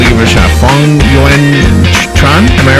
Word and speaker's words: Phuong Uyen Tran: Phuong, Uyen, Tran, gosh, I'm so sorry if I'm not saying your name right.